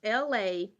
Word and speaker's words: Elay: So, be it as it may, this is LA, pronounced like LA, like the city.